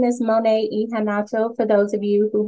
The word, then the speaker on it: Monet Iheanacho: would like to say uh my name is mon ehan for those of you who have not met me or are confused how to pronounce the last name um welcome to the